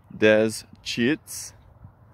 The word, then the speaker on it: Deschutes: posting it this is the Deschutes River Dez cheats think French when you pronounce it French for Trappers Deschutes there's a flower some